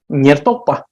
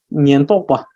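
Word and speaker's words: སྙན་རྟོག་པ: So the pronunciation seems that there is a ra there, right? But it's there is no ra. So let me write this. It is nyentokpa.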